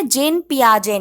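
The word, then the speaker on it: Jean Piaget: Stages of development की theory दी है जेन पियाजे ने. ओके टी साइलेंट रहेगा, जिन पियाजे बोलते हैं इसको.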